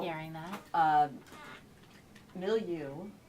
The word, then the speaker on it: Milieu: like hearing that um millu which is how you say millu um is an environment